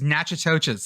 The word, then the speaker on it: Natchitoches: Look like they should be pronounced the same, though.